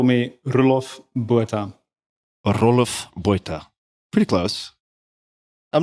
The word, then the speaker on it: Roelof Botha: My parents would call me Roelof Botha. Roelof Botha. Pretty close. I'm not going to pass for an Afrikaner, but Your pronunciation is excellent.